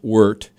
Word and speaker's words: wort: So basically, you cook the grain, you boil the wort, it's called. It's spelled wort, but it's pronounced wort.